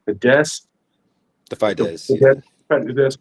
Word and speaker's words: Fidesz: It's crazy because, like, okay, like many politicians, when he was younger, he actually founded, I think it's pronounced Fidesz, The the Fidesz, yeah.